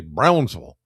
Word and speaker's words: Brownsville: Yes, Brownsville. You got to say it like that. If somebody says Brownsville, they're not from around here. You got to say Brownsville. up there in Edmonson County.